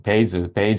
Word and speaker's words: Bazel: 이제 먼저 발음 끼고 먼저 이제 발음을 어떻게 하는지 네, FAQ에서 찾아왔는데 물론 제 발음이 좋진 않지만 약간 좀 베이절, 뭐 이 사이에 그 어떤 정도의 발음인데요. 그래서 하지만 이제 편하게 그냥 바젤로 부르도록 하겠습니다.